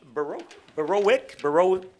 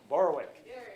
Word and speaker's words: Borowick: going to talk about Borowitz? Borowitz? No, I got to get it right. So when you come up here, you got to tell me how to say it the right way. Borowitz? Borowick. Borowick.